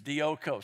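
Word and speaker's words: διώκω: I mean, from Greek to English, dioko. Say it with me, dioko. You spell it D-I-O-K-O.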